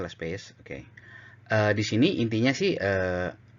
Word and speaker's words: Laspeyres: Oke, bacanya Las Pays.